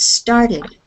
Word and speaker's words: started: Now the next word, started. In British English, they say it like an IT sound. But in North America, the United States, and in Canada, we make it sound a little more like ED.